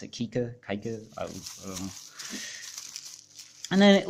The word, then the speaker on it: Kiicaa: USB C cable yeah so the LIA go Kika mix think of the type pronounced akika okay good and then it looks like the